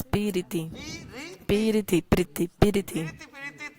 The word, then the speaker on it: पीरिति: पीरिति माने प्रीति में Priti means love. There are 3 syllables. Piriti, piriti, priti, piriti.